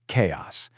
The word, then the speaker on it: chaos: Your brain sees that ch and wants to say cha, doesn't it? But here it makes a hard k sound. Chaos. The simple rule to remember is just ch sounds like k in this word.